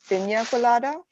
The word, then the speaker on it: piña colada: The tilde on top of any consonant in Spanish, it adds Y. So it is going to be pronounced as piña colada.